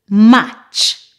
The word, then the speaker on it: match: Normally, when you have a word that has T before CH, the T is silent. For example, butcher, catch, match, patch, scratch, witch.